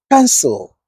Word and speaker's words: cancel: Many people pronounce the second syllable too strongly. But, listen to the relaxed ending. cancel pencil model towel not council, not pencil, not model, not towel or towel. Again, the ending softens because smooth English speech